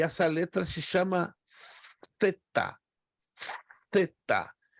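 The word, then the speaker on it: θῆτα: E essa letra se chama theta. Theta. A pronúncia dela é como TH em inglês, think, a palavra coisa.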